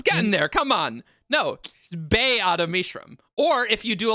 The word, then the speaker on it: Ba-Ado-Mishram: She doesn't like Ba-Ado-Mishram.